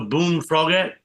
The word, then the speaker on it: Boone Froggett: Also, Boone Froggett. That how Yeah, you that's pronounce it.